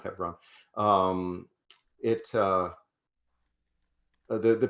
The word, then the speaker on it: Hebron: i'm thinking of and they pronounced it hebron by the way not hebron um it uh the